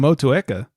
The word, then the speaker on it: Motueka: But good job on Motueka. Thank you. That was good Thank you.